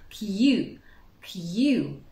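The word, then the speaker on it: queue: слон является французское заимствование кью-кью очередь 5 бокса произносится только первая буква тхиеу вторым словом тоже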